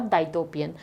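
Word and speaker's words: dystopian: इसका प्रोनाउंसिएशन सुन लीजिए, उटोपियन और डाइटोपियन।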